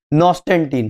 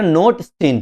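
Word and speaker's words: Notestein: मैं भाई देखो, आप लोगों को पता होगा मैं प्रोनाउंसिएशन में बहुत बुरा हूं नाम के, तो बस वही है, याद रखना, नोटस्टीन, ठीक है, नोटस्टीन है जो फ्रैंक नोटस्टीन है, उनने क्या किया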